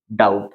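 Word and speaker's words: doubt: के बाद t है वही कंडीशन हमारी बी के बाद टी हो तो वहां पे बी जो होता है वो साइलेंट होता है साउंड किसका आता है टी तो क्या पढ़ेंगे अपन इसको डाउट क्या पढ़ते हैं अपन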